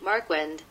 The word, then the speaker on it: Marquand: See how I pronounce that name. John P. Marquand.